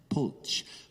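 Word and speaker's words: Polcz: to canada from hungary our name was originally p-o-l-c-zed poach but the canadian authority said nobody can pronounce that we'll make it p-o-l-t-zed pulse and that's how we became pulses but i'm actually poach and my mom she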